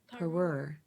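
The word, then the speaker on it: parure: have trouble saying it it's spelled p a r u r e per but I'm not sure if it sounds right to you but but a vintage three-piece jewelry set is called a peror I just have trouble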